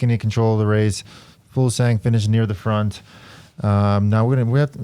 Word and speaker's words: Fuglsang: Fuglsang, and I know his name is actually pronounced Fulsang.